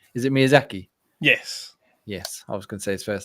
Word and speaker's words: Miyazaki: I can't pronounce his name. Is it Miyazaki?